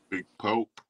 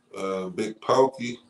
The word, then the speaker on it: Big Pokey: Big Pokey. You heard of him? Big Pope? Or what? How you say it? Big Pokey.